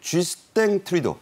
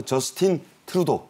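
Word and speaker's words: Justin Trudeau: 있다는 얘기입니다인 대통령은 30일 쥐스 트리도 어 불어식 발음입니다 아 영어로는 뭐 저스틴 트루도 이렇게 하죠 부자 총리의 아들입니다 캐나다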